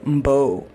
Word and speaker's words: Mbowe: I might be pronouncing that wrong. Mbo. She pronounces it as Mbo, so I'm just gonna say Mbo.